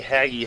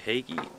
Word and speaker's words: Hagie: see this is a haggy high tractor i have no idea what year i also don't know if i'm even pronouncing haggy right i think it's actually hagey either way they're actually